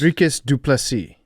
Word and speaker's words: Dricus Du Plessis: Dricus Du Plessis. Okay. The S is silent. DDP. DDP. That works. Dricus Du Plessis.